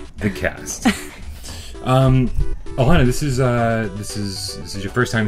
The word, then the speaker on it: Alana: Did I pronounce that right? Is it Alana? Alana? Alana.